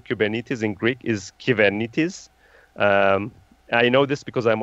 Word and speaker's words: Kubernetes: actually just to give you a secret everyone mispronounces cuban it is the right way of saying kubernetes in greek is given it is I know this because I'm originally from Cyprus